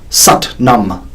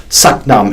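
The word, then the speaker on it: Sat Nam: to be in my mind using the mantra Satnam spelled SAT as in Sat but pronounced such and num n AM but pronounced naam Satnam it means true identity and it's a common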